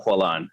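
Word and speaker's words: Poilâne: went to in paris is a bakery called puellan and that's spelled p-o-i-l-a-n-e um because this guy lionel colan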